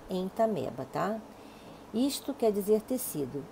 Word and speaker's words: Entamoeba: Se escreve entamoeba, mas se fala entameba, tá?